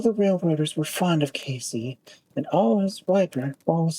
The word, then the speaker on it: Case: The name of the town was locally pronounced in 2 syllables, exactly like Casey."